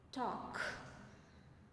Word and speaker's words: talk: Talk. L is silent here.